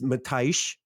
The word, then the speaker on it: Matthijs: So his name is Matthijs. I believe that's how you say it in Dutch, but I think English it's Matthew.